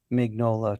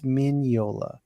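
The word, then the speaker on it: Mignola: friendly with Mike uh corrected me on my pronunciation after the show I got a text Sean it's minola sorry Troy I'm not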